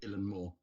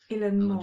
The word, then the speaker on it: Eilean Mòr: So, I went on to YouTube and I found a Scottish fer who pronounced it Illan Moore. Illan Moore. And I decided he would be Illan Moore.